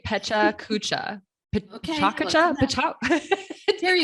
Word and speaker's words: Pecha Kucha: So I'm going to say Pecha Kucha. Okay. Chakacha? There you How do you go. pronounce it? Chakacha. Chakacha.